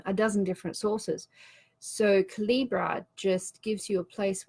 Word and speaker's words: Calibre: Jomi, there is an application out there called Calibra or Calibre. I've never found out which is the correct way to pronounce that. Calibre.